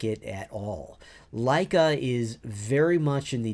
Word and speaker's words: Laika: And I'm also a beta tester for Laika, which is LAIKA.